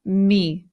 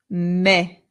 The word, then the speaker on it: me: Now this word is not me. In Spanish the e always makes the sound e. So this word becomes me.